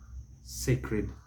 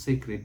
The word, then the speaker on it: sacred: Sacred. It is pronounced sacred, never sacred. Sacred. Wrong. So, sacredness, sacredly, never sacred, even if it's on that pulpit.